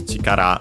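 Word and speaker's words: 力: This one yoku the strictly Japanese one is chikara which you have seen uh not sure if in this series also but in previous ones for sure accent on the last syllable means uh uh force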